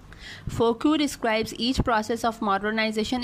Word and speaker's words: Foucault: फौकॉल्ट questions the traditional history, अच्छा इसको कहेंगे मिशेल फोकू, स्पेलिंग याद करने के लिए आप फोकाल्ट कर लें, बोलने के लिए फ्रेंच था तो फोकू, ठीक है, मिशेल फोकू।